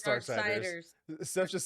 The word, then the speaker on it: Darksiders: Dark Risers? No, it's Darksiders.